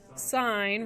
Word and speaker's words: sine: do we pronounce it sign right because it's s-i-n-e so sine okay so sine of